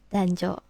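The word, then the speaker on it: 男女: Kanji Otoko ini onyominya adalah dan kanji ona onyominya adalah jo. Jadi ketika mereka menjadi satu bergabung bacanya adalah dan jo.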